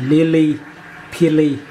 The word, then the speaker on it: Lilly Pilly: P phở I L L Y, đánh vần phát âm là Lily Pili.